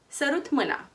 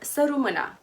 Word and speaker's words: sărut mâna: Sărut mâna, or săru mâna with a silent T.